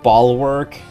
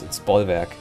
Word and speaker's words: Bollwerk: As a true American patriot, it's actually pronounced like Bulwark. No, it's Bollwerk. Yeah, it's Bollwerk. Bollwerk is the authentic German way.